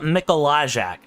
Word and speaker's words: Mikolajek: And you'll be surprised that I know how to pronounce that, but that's because the F1 league that I commentated for a long time was Polish. So knowing the pronunciation of that word comes a bit more naturally than you would think, because it's very Eastern Europe, it's very Eastern European in its setup, very Polish in its setup.